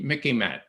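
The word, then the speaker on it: MICIMATT: an expression called the mickey man it remind it it rhymes with mickey mouse okay it's like what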